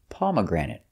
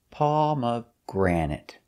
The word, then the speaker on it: pomegranate: is a fruit and the pronunciation is pomegranate pomegranate stresses on the first palma granite and third syllable pomegranate pomegranate it's a fruit